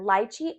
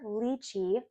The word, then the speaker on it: lychee: So I'm shooting for a springy cocktail for today, and that is going to be our lychee or lychee. Both are correct pronunciations, darn it.